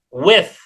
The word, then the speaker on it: with: Kemudian with, mirip dengan yang tadi, ya, ini TH ini tidak dibaca T, tetapi dibaca fa, ya, with.